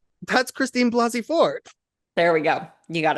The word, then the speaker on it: Blasey Ford: It's Christine Blaney Ford. Isn't it Blasey Ford Oh, with the that's not the S?